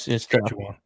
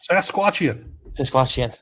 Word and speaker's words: Saskatchewan: You did good by actually pronouncing it correctly. No, it's Saskatchewan. I've been to Sasquatchian.